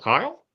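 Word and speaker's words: Kile: can tell you that his last name rhymes with file verl Kyle yeah darl Kyle no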